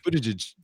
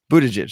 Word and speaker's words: Buttigieg: It's Buttigieg. Buttigieg.